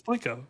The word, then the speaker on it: Plinko: No, yeah, it's Plinko.